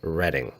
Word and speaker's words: Reading: It is spelled like North Reading, but is pronounced Reading.